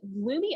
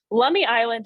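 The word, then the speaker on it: Lummi Island: it but i thought lumi i i'm pronouncing that wrong lummy island in washington state did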